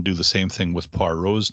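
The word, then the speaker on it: Poirot: par rose name uh pronounce it poiret which is the name i the way i pronounced it in my head when i was a kid and then corrected the person in the story so that readers would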